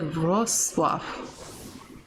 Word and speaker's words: Wrocław: Sounds like Wrocław. Wrocław. Alright, so that is how you say that.